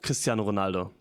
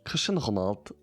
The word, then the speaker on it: Cristiano Ronaldo: Um, I saw the video and I think this is pretty interesting in terms of pronunciation because um, in Germany I said my whole life Cristiano Ronaldo and also in English you say Cristiano Ronaldo.